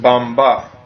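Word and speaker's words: μπαμπάς: In Greek, it starts and it's pronounced bamba. In Arabic, they say baba. In Greek, it's bamba. Bomba. Oh, okay. Or just quicker bamba. Okay. So it sounds like it's almost like a B, but it's really a B after the M.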